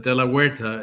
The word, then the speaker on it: De La Huerta: Yeah, the De La Huerta is how you pronounce it. I'm born in Cuba, so it's a Spanish Oh, yeah, name.